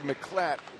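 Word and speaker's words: Miclat: Greg McClatt, spelled M-I-C-L-A-T, but he said pronounce it as if there was no I.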